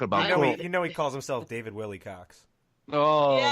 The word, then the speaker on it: Wilcock: Yeah, if you could, and thank you for bringing up his name again, which is spelled WILCOCK, not COX. And wait, isn't it? Is it actually ends in COCK? It's literally Wilcock. Wilcock.